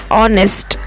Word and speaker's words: honest: Okay, these are the silent letters, and we have to pick up that silent letters from these words. Atom, atom. Here N is the silent word. Honest, honest.